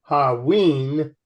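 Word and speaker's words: hauyne: Hion, pronounced Haween, belongs to sodalite mineral group, which includes sodalite, Hion, lazurite, which is a sulfide-bearing Hion, and nosine.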